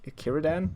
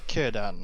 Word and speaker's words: Círdan: It's Círdan, I think. Círdan. Yeah. I've heard it pronounced as. So. Yeah, I think all C's are K's for elves.